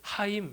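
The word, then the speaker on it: חיים: 매우 유사하다 고 이야기합니다 형제는 히브리어로 아 힘이라고 합니다 영생은 히브리어로 하임 이라고 합니다 이 시인의 기교가 느껴지십니까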